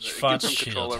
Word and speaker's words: Schwarzschild: Schwarzschild. How's that? It gives them control over me. Man, it's not that I can't do a German accent, it's just that I read it like an American, and I forget.